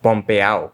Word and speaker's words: pompeao: Pretty much any word you hear in Puerto Rican Spanish that would normally end in an ADO is still spelled that way, but would be pronounced ow. This is most obvious in words that end in ado, ido, and edo, like pompeao, which you'll find a